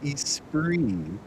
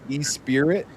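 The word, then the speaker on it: Esprit: I always thought it was weird that they pronounced it Espree. Espree. Oh, yeah. You're talking about Yeah. Yeah. Yeah. It looks like it says Espirit, but it's Yeah.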